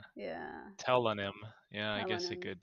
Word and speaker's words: Tellonym: um telonym telonym question I'm not sure how to say it I just call it t it's like pseudonym because it's like T Oh I thought of it as like Anonymous oh it's still tell anonymous yeah telonym yeah I